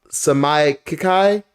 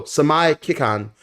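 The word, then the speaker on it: Seimei Kikan: But the main reason is until we see, I believe it's pronounced Samai Kikai, no, Samai Kikan.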